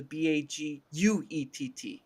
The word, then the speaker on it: baguette: Actually, baguette is spelled with the Baguette. Just so we can get that Baguette. correct. Oui. Baguette. Oui, baguette. There is no r at the end of baguette.